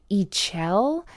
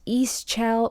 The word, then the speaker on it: Ixchel: I do know that Ichel, sometimes pronounced Ischel or Ichel, that's Ixchel.